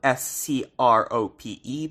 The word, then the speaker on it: Scrope: son of Lord Scrope, spelled S-C-R-O-P-E, but pronounced Scrope due to English pronunciation.